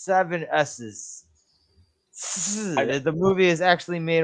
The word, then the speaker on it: Sssssss: It's pronounced 7 S's.